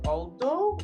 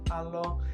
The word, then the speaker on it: Alo: I was like, is it Aldo or Alo? And then I just like hearing you talk, and then it's like, yeah, like my name is Alo, and I was like, okay, that's how you pronounce it.